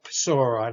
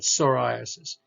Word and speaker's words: psoriasis: right here p-a-p-s okay and this is psoriasis not sora not so but psoriasis and psoriasis is basically a really interesting type of connective tissue dermatological disorder psoriasis involves the skin but